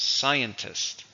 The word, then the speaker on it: scientist: the last one is scientist somebody who works with science the jobs it's a countable noun how many syllables scientist three stress in the first and of course we